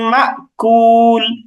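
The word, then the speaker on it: مأكول: যেমন আমরা সূরা ফিল মশ করেছি, সেখানে শেষের আয়াতটা এমন ছিল, ফাজআলাহুম কাআসফিম মাকুল, মাকুল। তো এখানে আমরা মা এরকম একটু ধাক্কা দেওয়ার মতো উচ্চারণ বা একটু থেমে যাওয়ার মতো উচ্চারণ করি।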